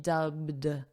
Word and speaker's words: dubbed: Notice the pronunciation, dubbed. So this ed is a very soft d, dubbed.